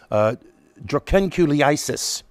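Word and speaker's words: dracunculiasis: The Carter Center has helped to eliminate the Guinea worm infection, which I'm going to try to pronounce it correctly. The technical term is drucanculiasis.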